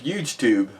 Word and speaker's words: HugeTube: And if you like YouTube, you'll love HugeTube, and it's pronounced huge tube. Just so you know, huge tube.